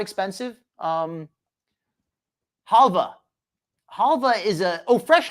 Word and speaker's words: halva: some some some information halva is the word of the day um it's got the W but I've always heard it pronounced as Hala it might be halwa it's a like a